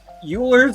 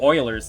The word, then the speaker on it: Euler: Euler's Circuit. Or, no, Euler's, technically, right? Isn't that how you pronounce it?